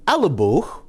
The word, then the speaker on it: elleboog: Well, so it's elleboog, like haute couture, beau. But except of it being 2 syllables, it's 1 syllable.